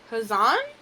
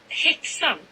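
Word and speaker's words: Häxan: In my head, I'm thinking it's Hazan? I don't know. No, not Peace and Search. How would I... Why does my spacebar not work? Okay, how do I pronounce it? Hickson. Hickson. Okay.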